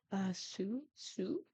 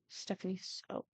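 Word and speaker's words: Stephanie Soo: For some reason, I thought it was Sue, and then I'm like, no, Sue sounds wrong.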